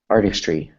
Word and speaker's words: Artistry: of it like this Artistry Artistry Artistry Artistry arst three arst three there you go there you go arst make sure it's three syllables Artistry Artistry there you